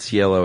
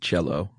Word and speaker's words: Cielo: hills right yeah um I looked up like three different places how to pronounce that and they all said Cielo except for Diane Sawyer said cello and I'm like man is dinosaur you're wrong no about anything no